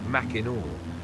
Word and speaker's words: Mackinac: Its pronunciation is Mackinac, a throwback to the original French spelling.